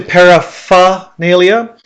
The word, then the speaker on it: paraphernalia: spelling as well paraphernalia now obviously paraphernalia correct pronunciation paraphernalia but a lot of times when I've heard this word the R is kind of missing okay I don't know